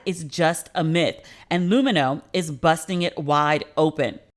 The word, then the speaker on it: Lumineux: You'll love Lumino's whitening.